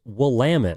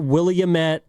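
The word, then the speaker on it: Willamette: It's pronounced Wamtt.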